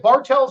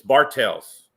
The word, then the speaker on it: Bartels: okay 2019 4x4 mod what would I points yeah with the Outlaws with the Outlaws yes is it Bartels or Bartel it's Bartels I cleared that with